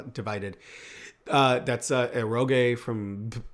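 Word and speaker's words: Divi-Dead: My friends and I when we played the game is uh we called it Divi Dead cuz of the way it's spelled, but it's supposed to be pronounced Divided.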